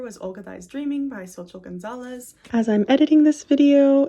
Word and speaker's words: Xochitl Gonzalez: Olga, This Dreaming by Xochitl Gonzalez. As I'm editing this video and have headphones on and can actually hear my own voice, I think I'm pronouncing her name wrong. Her name is Xochitl Gonzalez.